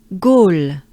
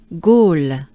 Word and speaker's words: Gaulle: Gaulle, Gaulle. O. It's a pretty closed up O, right? All. L. It's a slight L. All. Gaulle. Let's do it together ensemble. Let's take a good breath. Gaulle.